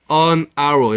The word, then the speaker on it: hour: 근데 H가 있잖아요. 그렇지만 H 소리 안 나죠. 발음으로 가야지. an hour 이렇게 하고 우리 장적기님 반갑습니다.